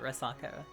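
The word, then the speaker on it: resaca: Oh, so I did pronounce it Rasaka, correct.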